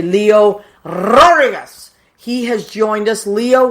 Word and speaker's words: Leo Rodriguez: You have to roll your R's when you say Leo Rodriguez.